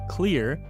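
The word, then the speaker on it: Xlear: nasal spray is something called clear but it's with an X so it's spelled x-l-e-a-r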